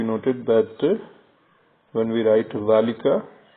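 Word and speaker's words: ذٰلِكَ: And once again it is to be noted that when we write ذالika, alif is not written after zal.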